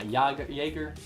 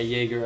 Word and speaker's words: Jaeger: Yeah, it's pronounced similar to a Y.